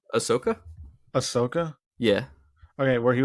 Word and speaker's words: Ahsoka: it's a hot take or not I think Ahsoka should be an A2 okay um I I